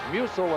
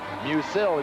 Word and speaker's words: Musil: It was Musil until today, and we were informed that he now wants his name pronounced Musil.